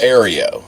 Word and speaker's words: Ferrario: Am I pronouncing his name right? Yeah, Ferrario. Yeah, you're close. Ferrario.